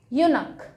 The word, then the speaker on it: eunuch: सो यूनक जो वर्ड है, ये जो CH है, ये तो खैर बहुत जगह क आया हुआ है, इसका जो प्रोनाउंसिएशन क, ये एक बाद वाली बात है। ए और एन से उनका कोई, जैसे मोनार्क है तो क आता है, ठीक है। ऐसे यूनक CH का प्रोनाउंसिएशन क प्रोनाउंसिएशन आता है।